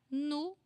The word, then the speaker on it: no: Nu. Nu. I know that it's an O, but we speak nu.